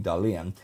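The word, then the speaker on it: Dahlen: And yes, that is how you pronounce his last name, Dalian.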